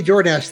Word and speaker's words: Jordash: Yeah, you can just say Jordash, the 7K is silent.